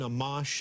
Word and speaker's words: Amash: Justin Amash, is that, am I pronouncing that correctly?